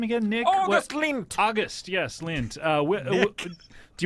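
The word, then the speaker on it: Lindt: uh August lint is am I pronouncing that correct yeah good job Scott is it he knows your name yeah that's my name is it l i n DT that's right yeah just like the chocolats right the what like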